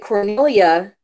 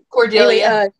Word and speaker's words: Cordelia: So, but where I kind of teeter on that is the fact that Cornelia, uh, I'm saying it right? Holy crap! Anyway, Cordelia.